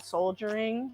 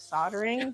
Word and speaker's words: soldering: he plays with his, I used to call it soldiering instead of soldering because I pronounced it the way it was spelled and he always would give me a hard time.